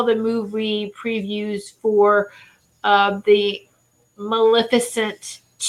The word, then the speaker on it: Maleficent: if it Lillith see I have a hard time pronouncing Maleficent was a magnificent but it's not a G it's an L Maleficent and it's a fairy